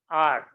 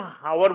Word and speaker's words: hour: इसी तरह से इसी का दूसरा शब्द है आर, HOUR। अब इसको भी हम हावर बोलते हैं, आवर बोलते हैं। पंजाब में इसको हावर भी बोलते हैं और हावर भी बोल देते हैं।